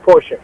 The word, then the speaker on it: Portia: And Portia, Portia, but pronounced Portia, just like the car.